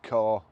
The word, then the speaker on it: Ka: Today I'm going to show you around our Ford Ka, or car, however you want to pronounce it or say it.